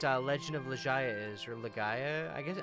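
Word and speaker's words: Legaia: I'm curious if anybody in here knows what Legend of Laya is or Legaya, I guess. I think it's pronounced Lega.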